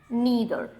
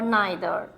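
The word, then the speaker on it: neither: Everyone, नीदर और नाइदर, जो भी आप प्रोनाउंसिएशन प्रेफर करते हैं क्योंकि दोनों ही एक्सेप्टेबल है. आइदर, ईदर, नाइदर, नीदर, both are acceptable.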